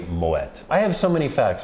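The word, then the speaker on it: Moët: noticed we've been saying the real french pronunciation of the brand is not moe though of course it's entirely acceptable it is actually moet i have so many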